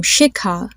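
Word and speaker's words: Shikha: example there's the name shika it's spelled as sh sh I kha so the difference between having a Ka and a kha is that when you say kha you release a breath of air when you pronounce it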